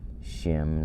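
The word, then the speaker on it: שם: shimo is his name shem let me bring up name shem in hebrew so when you're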